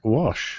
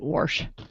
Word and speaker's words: wash: mandatory wassh oh it's there's no R in there Mary Mary Mary there R in what wash what wash some people pronounce it warsh and warsh well there's